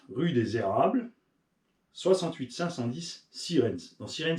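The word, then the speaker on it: Sierentz: 510 sirenes dans sirenes il y a un piège c'est presque comme ça se prononce sauf que c'est s i e r T e n Z donc sien apr on dit Siren mais c'est un Z ça la magie de la langue française moi je t'écriraai pas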